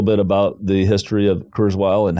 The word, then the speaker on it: Kurzweil: Am I pronouncing it? Is it Kurzweil? Kurzweil, yeah.